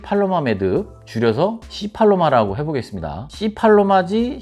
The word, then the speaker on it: C팔로마: C팔로마지 C발로마가 아닙니다. 발음에 각별히 주의해 주시기 바랍니다.